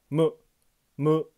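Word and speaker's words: む: 동그라미는 뜻입니다 마행의감탕 한국어 무처럼 입을 내이로 발음하지 않습니다 슬쩍 입을 벌리며 무 무 하고 발음합니다 무기 방향 무커 사위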